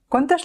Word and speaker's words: quant: Quantes llengües parles? Quants planetes has visitat? Molt bé. Fixa't que a la forma del masculí singular, quant, i del masculí plural, quants, la te no es pronuncia.